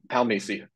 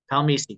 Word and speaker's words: Palmese: okay what what is that what's the correct pronunciation before we get going uh palmi palmi got it okay palmi everyone so